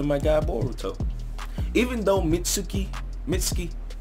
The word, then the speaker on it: Mitsuki: god boruto even though Mitsuki Mitsuki what I keep saying me Suki like that I just like oh man Mitsuki but it's Mickey Mickey Mickey whatever pronounced [